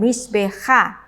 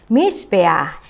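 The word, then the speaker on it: מִזְבֵּחַ: Nah, ada pembacaan yang tidak biasa ketika saya membaca Noah di sini. Saya tidak membacanya dengan Noha ya. Termasuk juga ketika saya membaca ini Misbeah. Saya tidak membaca dengan Misbeha ya, tetapi Misbeah.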